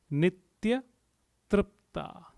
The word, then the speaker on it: Nitya Tripta: The 566th name says Nitya Tripta. Nitya Tripta. Nitya Tripta. Let's try to pronounce it word by word. Nitya, Nitya, Nitya. Tripta. So it is T-R, R with a dot. So tr. And then again, P is